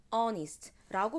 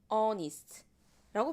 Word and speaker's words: honest: honest라고 발음해요. 즉 이때는 h가 발음되지 않고 바로 그냥 honest라고 발음이 되죠.